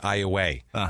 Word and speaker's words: Iowa: I am aware that this town is actually pronounced iay okay but it's not spelled iay it's spelled Iowa and I refuse there's a there is not